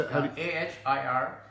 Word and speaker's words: Ahir Bhairav: Ahir Bhairav.